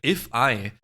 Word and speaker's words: ifeye: We have If I um which I think is actually how you pronounce the name looking at Hungle. If I Yeah, like I E.